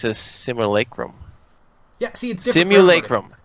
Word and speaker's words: simulacrum: is Sydney lacquered rum how do you guys say it similar simulacrum it's gotta be a real word it is it's simulacrum whoa that's not what